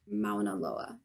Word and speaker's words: Mauna Loa: did some Googling and it looks like this one is probably pronounced Mauna Loa our fourth non-dairy ice